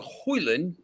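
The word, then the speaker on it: Højlund: yeah look I mean hoyland there's you don't pronounce the d this is he'll be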